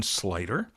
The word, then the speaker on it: Sluyter: what you do well my name is slyter uh it's uh spelled funny it's got a you in the middle of it i love it how